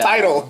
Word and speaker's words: Tidal: How do you say it? Tidal. Tidal. Like a tidal wave.